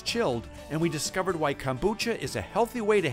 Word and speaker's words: kombucha: Well, for people who haven't tried, if you haven't tried kombucha, am I saying it right?